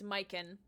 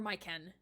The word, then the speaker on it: Maiken: start anew, and Maiken, I did look up the pronunciation, it's Maiken, or Maiken, an Innu hunter trying to discover what's disturbing the forest.